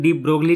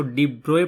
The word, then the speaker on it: de Broglie: तो भाई ये टॉपिक दिया था भाई डी ब्रोए ने 1924 में। ये स्पेलिंग डी ब्रोगली टाइप लग रही है, लेकिन इसको डी ब्रोए पढ़ते हैं।